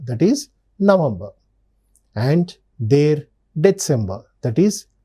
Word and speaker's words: November: October their November remember the V is generally pronounced as f that's why their November that is November and their December that is December.